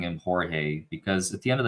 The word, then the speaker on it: Jorge: think that's his name I don't know why everyone keeps calling him George J R G at least in my mind is pronounced Jorge and I think he deserves